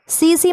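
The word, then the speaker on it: tsetse: सीसी मक्खी ठीक है अब ऐसे लिखा जाता है टी साइलेंट होता है सीसी मक्खी जो है वो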